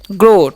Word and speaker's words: grow: जी का उच्चारण करते हैं ग, आधा आर का आधा र, और ओ का OW का उच्चारण यहाँ पर ओ होता है, इसलिए हम क्या बोलते हैं? ग्रो, ठीक है।